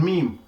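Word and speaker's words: Meem: we shall be looking at what is called meme.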